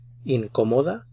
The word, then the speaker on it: incómoda: Notice the accented syllable, so this is where you put the stress on this syllable here. Incómodo, incómodo, incómoda, uncomfortable.